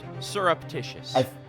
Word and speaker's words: surreptitious: syrup that's how you surreptitious certainly like like you pronounce it like maple syrup surreptitious i think i've only